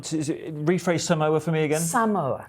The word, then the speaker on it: Samoa: Samoa for me again Samoa right so we were told weren't we what what were we told yesterday the briefing pronounce it Samoa s say I would say emphasis you right yeah so because that's